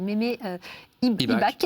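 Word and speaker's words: Mémé Ibach: Vous avez rencontré une personne qui s'appelle Mémé IBAC, c'est comme ça qu'on prononce.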